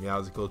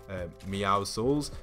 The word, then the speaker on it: Meowscles: and then the Meowsicle, or as I always pronounce it, Meowsicles, but it's actually Meowscles.